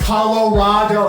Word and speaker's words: Colorado: stopped and a Rondo it's Colorado it's like avocado that sounds so high